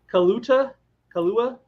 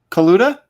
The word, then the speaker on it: Kaluta: Kalua? How do you pronounce his name? Kaluta?